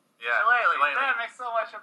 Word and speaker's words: Shillelagh: I'm going to use the Shiliga. as an horizon? Oh, Shillelagh? Yeah. Shillelagh.